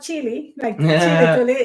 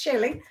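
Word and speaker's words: Shili: s i h i l e how you pronounce that actually yeah sure not chili chili I I it's chilly and I didn't even know that like I'm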